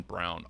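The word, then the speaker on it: Braun: they're averaging 26.7 what's the guy's name Christian Brown it's spelled like Brun Kansas guard 66 218 plays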